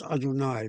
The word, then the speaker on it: Adonai: Hashem is the common parlance for the Yahweh word, pronounced ritualistically as Adonai, my Lord.